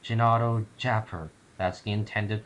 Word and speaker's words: Jinadojaper: she appear and no you're pronouncing your vowels wrong it's pronounced genato chapper that's the intended pronunciation